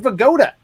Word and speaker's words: Vigoda: But his name was Abe Vigoda. Abe Vigoda. Wow, great job. And Great job, Abe Travis. Vigoda rhymes with Yoda.